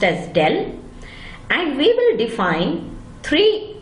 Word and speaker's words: del: We will be looking at the operator, vector operator called del, pronounced as del, and we will define three functions of a vector: the gradient, the divergence and the curl.